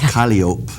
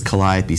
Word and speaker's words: Calliope: Yes, even though same thing as Calliope. In French it's Calliope, even though in English it's Calliope.